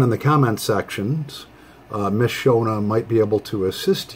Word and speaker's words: Shona: It's S-H-O-N-A. So I looked it up, and it's pronounced, I believe, Shona.